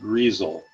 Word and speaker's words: Griesel: I've been told it's pronounced Griesel. It's spelled Grissel.